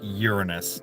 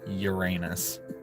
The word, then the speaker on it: Uranus: it's a fairly big planet and yes it's pronounced Uranus not Uranus so I'm being sciency and I'm not being